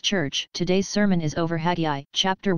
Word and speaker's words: Haggai: Haggai, for your information, is not pronounced like that. It's minus an H, actually. Their H was silent, depending on where you find it in the word, and often when it's the beginning of the word. And so pronounce Haggai without the H, and what does it sound like? Sounds like an Aggie, right?